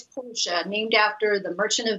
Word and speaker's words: Portia: Michelle, did I pronounce that right, or is it Portia? It's Portia, named after the Merchant of Venice, Tyler.